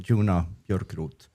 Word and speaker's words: Joona Björkroth: I think that's the way he pronounces his name, Joona Björkroth.